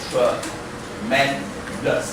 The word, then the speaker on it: tremendous: This word on the second syllable. So we say tremendous.